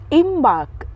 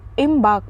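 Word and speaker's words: embark: आर के इम बाक यहां पे आर जो है हल्का साइलेंट रहता है ठीक है पूरी तरह से साइलेंट नहीं रहता है हल्का तो जब आप प्रोनाउंस करो तो इम बाक बोलो ठीक है इसका वर्ब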